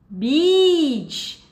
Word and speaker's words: beach: Por exemplo, se a gente fala beach com um I longo, Congo, que é praia, a gente não pode confundir com uma outra palavra que é feia, que é pronunciada com esse curto, ok?